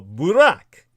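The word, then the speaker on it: Buraq: the seven Heavens on the back of the Burak is spelled b r a q in the anglicization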